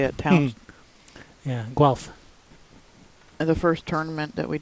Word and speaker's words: Guelph: Guelph.